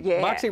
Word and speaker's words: Mäksē: Vacaville where at uh is it Moxy Moxy Moxy restaurant and they want to spend the holiday